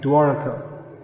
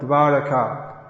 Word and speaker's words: Dvaraka: Very commonly I think all the devotees in Los Angeles say Dwarka. Not Dwaraka, Dvaraka. Or as Bengalis say, Daruka, but don't say that.